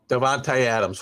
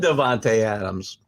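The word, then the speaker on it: Davante Adams: that's all it was i thought i said his name wrong devonta adams what did i say this time i said devonte adams you're killing me the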